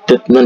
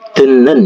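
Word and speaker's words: 듣는: ya dnen k kata Tapi bacanya bukan dnen ya tapi denen ya denen jadi d-nya berubah menjadi n n ya nanti kita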